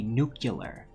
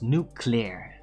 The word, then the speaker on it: nuclear: You're not supposed to say nuclear. It's nuclear. Nuclear. I mean, it's very basic when you really listen to it separately.